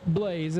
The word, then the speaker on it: Blas: there the three pater Carl Blaze is how you pronounce it but uh I like